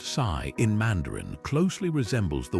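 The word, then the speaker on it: 四: Over time, this belief spread to other East Asian cultures, including Japan, where the number four pronounced she also echoes the word for death.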